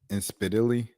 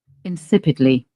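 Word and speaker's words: insipidly: Let me see how to pronounce this. Inspily, excuse me. Incipidly.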